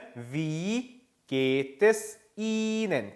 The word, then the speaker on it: Ihnen: "Wie geht es Ihnen?". 특히 "Ihnen" 에서 , 모음 뒤 에 'h' 가 오면 장모음 이 된다 고 말 했습니다 .